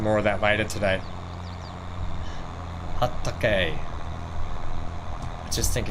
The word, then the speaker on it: Hatake: Hatake. Is that how you pronounce it?